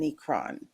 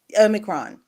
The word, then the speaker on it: Omicron: these cases of um necron did i say it right amicron omicron i want to put an n in there for whatever reason and